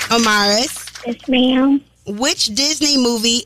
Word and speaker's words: Omaris: We don't want to get your name wrong. O-M-A-R-I-S.